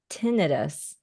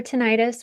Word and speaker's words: tinnitus: and he brought up idus am I saying it right okay it's idus or tenius both are correct perfect and it is